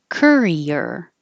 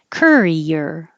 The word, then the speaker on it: courier: short I gym nine Courier I know it looks like oh you like it should be Co or something but I don't know why it's Cur Courier excuse me Courier and